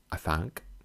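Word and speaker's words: Afanc: to slay his monster, an Adank, pronounced Afank, variant of Afank, of a place called Lilion, at Wales.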